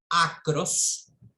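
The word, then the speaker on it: ἄκρος: están las letras griegas, acros, así se pronuncia en griego, acros, derivan, o sea,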